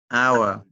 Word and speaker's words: hour: No, it's not our hour our What the H is not pronounced here.